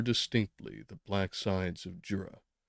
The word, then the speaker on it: Jura: the black sides of Jura I believe that is the right pronunciation zura glad I checked they discovered more distinctly